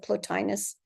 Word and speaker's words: Plotinus: from the year 205 plotus or platinus I'm not sure how you might pronounce it but I pronounce it plotinus listen to this as